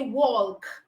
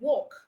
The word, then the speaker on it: walk: silent you don't say walk you don't say talk you don't say calm all right you say walk talk come so the L in this words are silent letters all right the next